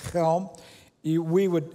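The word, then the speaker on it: Chełm: that's circled there it's helm you we would it's it's spelled c-h-e-l-m if you would so we would say chelm in polish at helm and i i i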